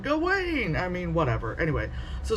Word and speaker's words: Gawain: So when we were reading, Sir Gawain, how do they pronounce it in the movie? Gawain? Yeah. They said Gawain, but at school they were like Gawain.